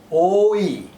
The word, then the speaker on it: ঐ: Oink means it's a sound again, and it is produced by pigs. So here we have something about Oi sound, but you have to pronounce it very strongly.